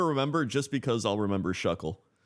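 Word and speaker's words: Shough: Speaking of quarterbacks, Saints named rookie Tyler Show. Shuff. I still don't know how to say his name. Let's start. So, this is going to piss you off. It's shuck. It's shuck.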